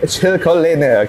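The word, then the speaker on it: Silkolene: made in German ya dibacanya ini memang Rada susah buat orang Indonesia OL Oke bahasa Jermannya ya kalau ininya silicoline oke silcoline oke silcolin aja L bahasa bahasa Indonesianya Oke Nah teman-teman di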